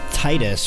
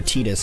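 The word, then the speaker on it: Tidus: and then have have Titus or teeta's however you want to say his name Titus is how I say it have Titus go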